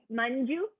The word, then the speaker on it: Manju: froze sorry oh sorry manju is how you say my name menu manju